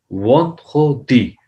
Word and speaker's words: vendredi: ये वही sound है jeudi, jeudi, vendredi. So how you will say Friday, Juma, vendredi, vendredi, vendredi, vendredi. But you will speak very fastly, but little bit pronounce on the R ran sound of this.